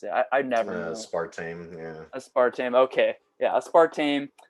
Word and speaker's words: aspartame: How do you pronounce it? I never know. Aspartame, yeah.